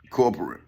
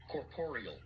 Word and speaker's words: corporeal: See, look, man, corporal. Hold on, I might be like... Corporeal. Oh, corporeal. Now, that's how they pronounce it.